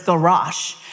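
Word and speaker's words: גרש: I can't pronounce it well because I don't get enough guttural in my throat, but it's garash.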